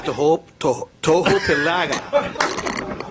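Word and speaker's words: Tohopekaliga: Yeah, Tohopelaga. You got to put the accent on the second syllable.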